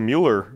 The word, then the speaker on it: Mueller: Even the Mueller development's like that. It's supposed to be Miller. No, really? It's not. Yeah, I'm pretty sure Mueller's supposed to be pronounced Miller. Well, why would it be spelled M-U-E-L-L-E-R?